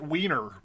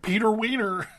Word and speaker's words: Wehner: I keep changing his name because it looks like it's spelled, looks like you should pronounce it Wiener, but Peter Wehner All right, 10 years